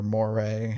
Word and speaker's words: Morey: LeBron that whole situation daryl morey or more ray however you want to pronounce it it's more right yes some some pretty